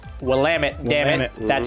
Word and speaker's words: Willamette: him he informed us it's not will limit its Willamette yeah man that's how